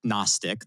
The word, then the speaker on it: Knostic: There was a great blog post that came out from a security team called Gnostic, that's spelled with a K, on a new class of LLM attacks that they call flow breaking.